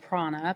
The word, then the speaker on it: Prana: So, when I left Ramse's I started a company called Prana. P R A N A. Though it rhymes with my name, it has nothing to do with it.